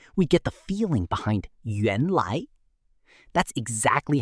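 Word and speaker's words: 原来: Yuan lai is pronounced yuan lai and means turns out or actually.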